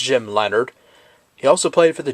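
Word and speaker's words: Jim Leonhard: Jim Leonard or Leonardo R whatever but it's pronounced Jim Leonard he also played for the Jets and I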